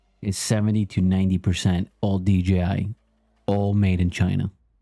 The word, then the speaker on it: DJI: DJI, it's a company called DJI. Some call it Digi Vi, all these other ways they pronounce it.